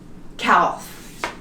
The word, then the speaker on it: calf: When we have it like this, we don't pronounce it. Could. Could. Talk. Half. Calf.